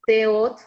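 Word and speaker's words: Teod: Por ejemplo, San Miguel Arcángel es Teot, se escribe Teot, T-E-O-D, y así lo puedes llamar y lo pueden probar.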